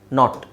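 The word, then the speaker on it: knot: ಕೆಲವು ಪದಗಳು ಉದಾಹರಣೆಗೆ ನೋಡಿ ಕೆ ಎನ್ ಓ ಟಿ ಎನ್ ಓ ಟಿ ಎರಡರದು ಉಚ್ಚಾರಣೆ ನಾಟ್ ಓಕೆ ಎರಡರದು ಉಚ್ಚಾರಣೆ ನಾಟ್ ಬಟ್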